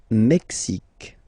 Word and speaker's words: Mexique: Le Mexique, le Mexique. Mexique. It's really the X. Huh? Le Mexique. And then remember this Q-U-E, it's only K. Mexique.